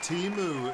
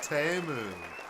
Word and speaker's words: Temu: xiin ping Ser yeah but it's not teu it's teu in the Super Bowl ads everybody realized we've been saying it wrong this whole time dude